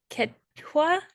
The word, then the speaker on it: Quechua: El quechua, how do you say that?